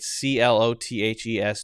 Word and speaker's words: clothes: with these right c-l-o-t-h-e-s do i need to say clothes clothes well if you're gonna say it correctly then you do have that correctly then you do have that the z the z clothes there's the and then